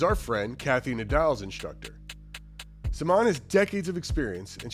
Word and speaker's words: Simone: My guest this week is Simon. Here in the States, we would most likely pronounce it Simone, but I learned we've been doing it wrong.